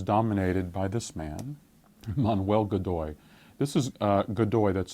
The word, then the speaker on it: Godoy: So the Spanish government increasingly is dominated by this man, Manuel Godoy. This is Godoy, that's spelled G-O-D-O-Y.